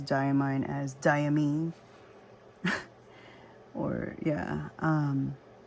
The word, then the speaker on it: Diamine: the brand name and they said it's diamine because it's supposed to be kind of like d aine d ye e a mine so that's why it's diamine so I'm like oh